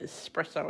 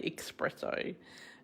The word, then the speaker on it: espresso: as well and um for ages i couldn't say espresso i used to say expresso and my daughter had to train me because she was a barista um in how to say it right so i've got a